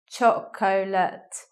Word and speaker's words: chocolate: in the word so you may anticipate chocolate but we don't say and I won't just sit with two syllables chocolate like that with the stress at the beginning looking now at this